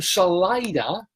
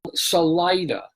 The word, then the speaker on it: Salida: place in Colorado called Salida. And yeah, I know, it's spelled like a Spanish word. It means the Spanish word for exit, salida, salir, right? So you figure, oh, it should be Salida. No.